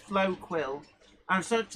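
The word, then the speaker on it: Floquil: That Flow Quill, I've been told it's pronounced Flow Quill. I'm sort of like, Flockkill, what's this?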